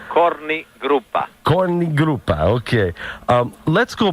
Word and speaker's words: Korni Grupa: were also called the Korni Grupa. Did I say it right? Yes, you did. Okay. Actually, Korni Grupa.